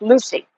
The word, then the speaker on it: Lucie: Gracie says Port St. Lucie is on the east coast of Florida, pronounced Lucy.